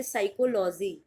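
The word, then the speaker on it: psychology: पी से शुरुआत होती है लेकिन पी होता है साइलेंट, और आप इसको प्रोनाउंस करोगे साइकोलॉजी।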